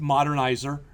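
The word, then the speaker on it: Modernizr: have heard of this that's not a misspelling it literally is pronounced modernizer all right but what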